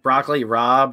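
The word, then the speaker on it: broccoli rabe: So in like Broccoli Rob, it's spelt with an A, but it sounds like an O.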